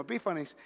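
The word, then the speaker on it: Epífanes: Vino Antiacos pronounce his name, Antiacos Epifen que se dice ese mismo Epífanis.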